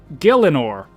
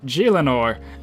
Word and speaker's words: Gielinor: so the the name or the title it's pronounced Gillen or now in the update video I pronounce it G Leonor and I think that's because growing up that's